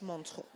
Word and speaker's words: Montreux: Like as in the French Montreux, okay?